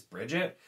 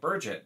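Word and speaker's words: Birgitte: just read it as bridget even though it's not spelled like bridget it's about like burget but i'm not saying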